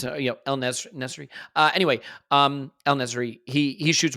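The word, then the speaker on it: En-Nesyri: Like, it's great buildup from Sevilla and an El Nasri shot. Is that how you say his name? It's not, probably not. How you say it. It's El Nesri.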